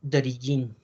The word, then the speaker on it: d'origine: O apelación d'origine. D'origine, la E no se pronuncia.